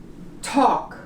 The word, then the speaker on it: talk: When we have it like this, we don't pronounce it. Could. Could. Talk.